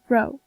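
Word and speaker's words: rho: is called C where the funny looking p is pronounced row when a stone is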